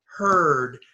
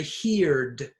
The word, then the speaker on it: heard: to spell it but many students make a mistake with pronunciation they say heared but that's wrong it's her the EI